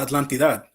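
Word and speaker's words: Atlántida: Oh, Los Guerreros de la Atlantidad. Oh, it's just Atlantida.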